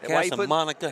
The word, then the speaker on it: Casamonica: Casamonica.